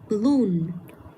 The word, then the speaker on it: balloon: Rồi tiếp theo, những cái âm tiết mà nó có chữ o và n thì mình cũng sẽ nhấn trực tiếp vào cái âm tiết có những chữ này luôn. Mình sẽ đọc là balloon. Hay là afternoon.